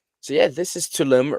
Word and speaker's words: Tulum: So yeah, this is Tulum. Tulum. How do you spell that?